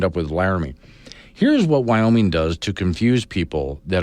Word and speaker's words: Wyoming: And I know better than to say 3 syllables when I say Wyoming.